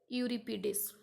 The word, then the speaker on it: Euripides: These names are a bit tricky one, so listen the pronunciation carefully. Aeschylus, Aeneas, Sophocles, Euripides.